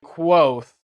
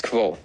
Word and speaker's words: Kvothe: My name is pronounced nearly the same as Kvothe. Okay, so the first time that we see this, he wants us to pronounce it with a Q, but when we get to the audiobook, it sounds like this.